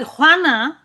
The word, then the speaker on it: Juana: makes me sound so bad like I can't learn it's a very difficult but Hana and Juan are the most probably one of